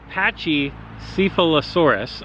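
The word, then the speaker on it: Pachycephalosaurus: and it is patchy patchy syphilis horas I believe is how you say it but for the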